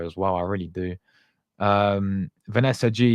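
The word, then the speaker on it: Vanessa Gilles: Vanessa G, yeah, is how you actually say her name.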